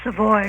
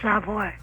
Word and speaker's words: Savoy: And by the way, it's pronounced Savoy, not Savoy.